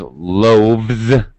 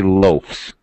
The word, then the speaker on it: loaves: So, loaf becomes loaves. We don't say loafs.